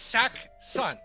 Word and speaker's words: Saxon: No, it's Sack Son.